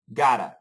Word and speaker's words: gotta: We have the flat T sound, gotta.